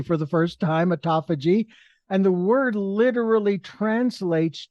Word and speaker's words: autophagy: as I've already stated, and like I said, pronounced correctly for the first time, autophagy.